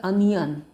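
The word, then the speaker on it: onion: लिखेंगे सोटे सोटे द अनियन इसको नियन नहीं बने पढ़ेंगे अनियन पढ़ेंगे स्पेलिंग ओ से शुरू होता है लेकिन अनियन इसका प्रोनंसिएशन है सलाद काट दो सलाद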